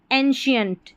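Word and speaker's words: ancient: हो गया special social एंशिएंट। एंशिएंट यहां सी आई ई एन टी को शियंट करके पढ़ा गया है।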